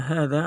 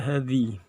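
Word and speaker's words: هذا: Walaupun di situ sebagai majrur atau diawali dengan huruf jar ala, tetapi kata hadza adalah mabni, maka tetap dibaca hadza, tidak hadhi, gitu ya.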